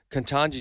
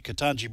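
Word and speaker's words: Ketanji: Uh sometimes I get her pronunciation wrong. Katanji Jackson.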